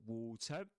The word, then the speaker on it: water: hands in nice cold water. This is water. Water ending with a schwa sound. U water. Water. And as you would expect not pronouncing the R sound as in American English.